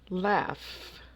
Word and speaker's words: laugh: stop laugh laugh laugh now this one is an example of how sound is more important than spelling uh because the final sound of the word laugh is an F even though no F appears in the word so GH together sometimes can make the F sound so laugh number three